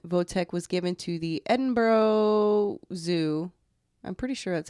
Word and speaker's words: Edinburgh: November 15 1947 voltec was given to the Edinburgh Zoo I'm pretty sure that's how you say in boro boro yeah yeah where he spent the rest of